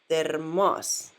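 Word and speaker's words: термос: On the first word, the emphasis was on e here. So that is pronounced like termas. Termas.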